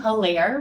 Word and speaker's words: Hilaire: I am Hilaire Martin, the founder and creative visionary of Raleigh Founded. And if you forget how to say her name, it's like hilarious.